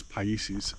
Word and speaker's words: Paisses: quite ancient and uh just ask the gentleman about the pronunciation uh i'm a bit deaf so i don't get these things quite right um but it is pieces and he tells me